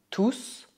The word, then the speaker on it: tous: Por outro lado, na frase ils sont tous très gentils, ils sont tous très gentils, o S de tous é pronunciado, pois neste contexto a palavra significa tout le monde.